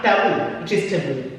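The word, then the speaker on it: tabú: And the word for taboo in Spanish is taboo, with accent on the U.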